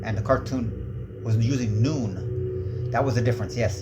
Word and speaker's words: Nun: But, uh, the cartoon was pronouncing it noon.